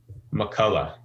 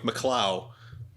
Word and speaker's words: McCulloh: before we get started how do you say your last name mccullough mccullough yes mcculloch i would have gone with mccloud no mccullough but honestly people butchered